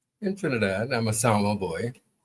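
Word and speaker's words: San Juan: Well, you know you know um that town in Trinidad that we call Sour. Yes. that is spelled s an a n j u n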